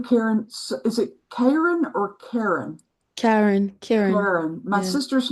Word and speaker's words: Karen: Is it Karen or Karen? Karen. Karen. My Yeah. sister's name is spelled the same way, but we pronounce it Karen because we're Southern.